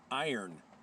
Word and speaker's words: Yron: My Yron just sharpened your Yron, and now we know that Yron is not the pronunciation of Yron. Iron is the pronunciation of Yron.